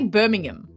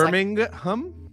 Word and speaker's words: Birmingham: you say it I I would say Birmingham like you kind of sof the H like ham slice I think it's Birmingham Birmingham Birmingham Birmingham Birmingham